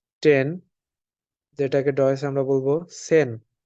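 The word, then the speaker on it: zehn: যেটাকে ডয়েসে আমরা বলবো সেন এখানে জেড আছে আমরা জানি জেড এর উচ্চারণটা এস এর মতন হবে অনেকটা এস এর মতন উচ্চারণ হবে এখানে টেন কে আমরা বলবো হচ্ছে সেন এই যে আমরা এখানে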